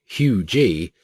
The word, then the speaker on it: UG: generator in section 13.15 the ultra generator ug pronounced hugee uses three arrays a